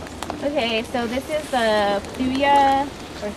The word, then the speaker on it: Thuja: Okay, so this is the Thuja or Thuja.